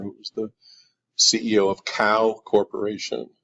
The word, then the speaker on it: Kao: Visual you're seeing there is from a presentation of my good friend Bill Gentner, who was the CEO of Kao Corporation. Kao is spelled K-A-O, not C-O-W.